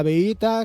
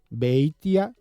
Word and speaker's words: Beitia: Tenemos con nosotros a Beita, que es el coordinador de esta red y de la empresa Ekeiko, la empresa que los desarrolla. Beitia, pronunciaba yo mal el apellido.